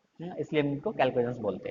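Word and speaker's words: chalcogens: पढ़ना, CHAR, ठीक है, लेकिन प्रोनाउंस एज कैल्केजेंस, CHAL को GENS।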